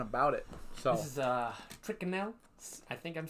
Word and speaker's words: Tyrconnell: So this is Triconel. I think I'm saying that now. Triconal? I'm not quite sure. I'll pronounce it. Yeah, I would love for you to pronounce it. Tyrconnell.